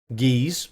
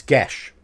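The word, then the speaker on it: geas: through speaking English and this word here is not giz or gas it's gash yes gesh and that is correct no other pronunciation is correct on that one it is gesh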